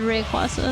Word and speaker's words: Rayquaza: I've always said Rayquaza. Rayquaza. Get sparkled. I couldn't really tell how Wolverine pronounced it.